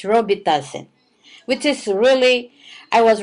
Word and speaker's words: Robitussin: So I told, okay, go ahead and give Robitussin. That's what we pronounce back home, but in here it's Robitussin, which is really, I